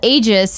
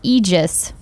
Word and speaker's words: Aegis: Kitten Tactic says what we called Aegis is pronounced Aegis.